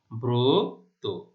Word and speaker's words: ব্রত: তাহলে দেখো এখানেও একইভাবে তাহলে কি হবে, ব এর রফলা রয়েছে, ব মানে অ এর সাথে রফলা রয়েছে, তাহলে এখানে উচ্চারণ হবে ব্রত, ব এর রফলা ওকার।